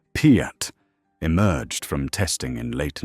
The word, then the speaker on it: PIAT: The projector, infantry, anti-tank, quickly shortened to Piet, pronounced Piet, emerged from testing in late 1942, resembling no weapon anyone had encountered.